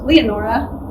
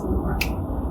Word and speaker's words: Leonora: In England, her name is pronounced Leonora, and in the US, it's Lenora.